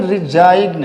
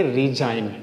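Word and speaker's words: resign: इसको बहुत सारे बच्चे बोलते हैं रिजाइग्न। रिजाइग्न जो इंग्लिश को बोलेंगे रिजाइन। क्या बोलेंगे इसको? रिजाइन। क्योंकि हम जी का प्रोनाउंसिएट नहीं करेंगे।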